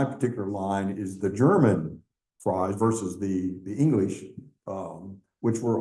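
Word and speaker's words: Frei: And she said, this is Frye in German. This is how it's spelled.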